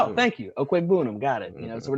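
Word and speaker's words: Okwuegbunam: he's like, oh yeah, that's actually pronounced Devin Okwegbunam. That's how you pronounce it. I'm like, oh, thank you, Okwegbunam.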